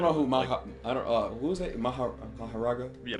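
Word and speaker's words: Mahoraga: I don't know who who is it Maharaga? Yeah, Maharaga.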